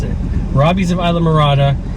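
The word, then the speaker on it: Islamorada: of Isam marada I finally learned how to pronounce it Robbie's of Isa marada it's a Marina and they also do boat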